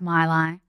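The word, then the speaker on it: Maileg: But it is pronounced my lie.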